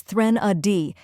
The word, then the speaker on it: threnody: pronounce it with confidence the correct pronunciation is thren a d let's break it down first we have thren which sounds like thren in thren oi with a soft th sound like in think next is uh which